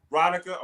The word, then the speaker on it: Ronica: Did I say it right? Awesome. Ronica? How do I say that? Ronica. Okay.